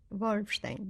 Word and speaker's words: Wolfstein: Mrs Wolstein could you state your name and spell it please yes f r y d e r y k a Wolstein w o l f s t e i